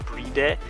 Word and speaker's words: Bride: i believe it's pronounced not a lot of people think it's pronounced bride it's actually not bright it's pronounced bride or bride something like that um